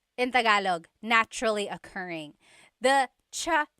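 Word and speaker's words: tsaa: Polyglot said it's like the word cha. Cha in Tagalog is t like the tea that you drink. And it's spelled ts aa aa. Cha. Cha. That's such a Tagalog spelling. I love it. There's the ts sound and then the double vowel uh pronunciation.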